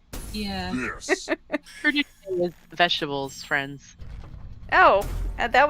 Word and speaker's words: crudité: traditionally find in a crudité appetizer?